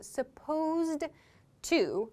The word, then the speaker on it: supposed to: supposed to do so the pronunciation here may be the issue here is that supposed which ends with a D is connecting to the sound in to so supposed to slowly but in fast speech we connect the T